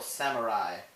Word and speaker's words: samurai: I, however, isn't spelled with the letter it makes, it's spelled with an AI. For example, samurai.